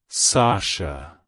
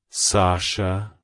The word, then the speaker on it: Sasha: girl it's pronounced as Sasha Sasha Sasha to pronounce it correctly emphasize the first syllable sah and then gently say the Sho sound at the end make sure not to